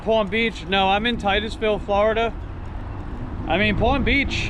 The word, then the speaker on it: Titusville: start buying their way up in life yeah Titusville Titusville that's how you pronounce it I've heard some people say like titties Ville don't get me wrong you know there's cute